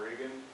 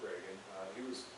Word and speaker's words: Regan: John Regan, when John Reagan was pronounced Reagan, we always said Regan, but he pronounced it Reagan.